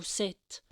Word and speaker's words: sept: en sanscrit en français dans le mot se le P n'est pas prononcé en sanscrit le 7